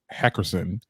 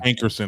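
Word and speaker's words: Hankerson: okay so apparently elia's uncle and manager barry heckerson made a new social media page did i say it right hey christine yeah ankurson okay there we go uh made a new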